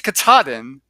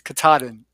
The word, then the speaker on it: Katahdin: It's 14 states long, and I think I pronounced it incorrectly in the video, and so I'm going to have to correct myself. It's Katahdin, uh, or no, it's not. It's Katahdin because I always say Katahdin, and it's actually Katahdin, Maine.